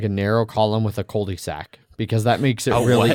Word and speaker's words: cul-de-sac: wasn't just like a narrow column with a cul-de-sac, because that makes it really easy.